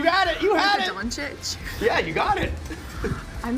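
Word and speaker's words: Dončić: his name you got it you had it donic yeah you got it I'm the worst of pronouncing names okay I'll trying to be serious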